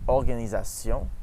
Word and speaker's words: organisation: For A, all other pronunciations of O are A, like in organization or tornado, specifically the first O. So we say in French, organisation and tornade.